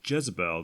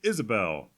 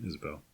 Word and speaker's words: Iesabel: to pronounce it correctly I honestly thought it was Jezebel the entire time since the font seems a little deceiving however that's not correct today we are reviewing Isabelle sorry Isabelle what is it according